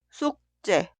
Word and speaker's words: 숙제: La sílaba una, 쑥, termina con la consonante final 기역 y la sílaba dos inicia con 즈읒. Esta 즈읒 suena como 쌍즈읒. 숙제, 숙제.